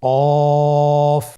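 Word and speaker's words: ق: আপনারা আমার সাথে আবার বলুন কফ। আরেকবার চেষ্টা করুন। কফ। কফ উচ্চারণের ক্ষেত্রে অবশ্যই তিন আলিফ টেনে পড়তে হবে।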